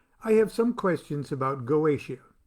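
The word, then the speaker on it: Goetia: some questions about galatia now goesha i pronounce it galatia i don't know i don't know why i just started calling it galatia and uh it's spelled goitia g-o-e-t-i-a so excuse me if i pronounce it galatia but you pronounce it any way you want i have questions about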